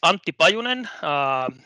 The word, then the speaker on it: Antti Pajunen: 45 minutes to go so my name is auntie by Onan don't even try to pronounce that name if you're not finish that